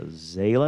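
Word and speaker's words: Zaila: history um american yeah zayla is how you pronounce it avant-garde that's quite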